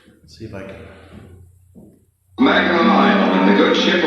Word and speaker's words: Mackinac: We're informed that the correct pronunciation is Mackinac, as it is the French derivation of the original Indian name.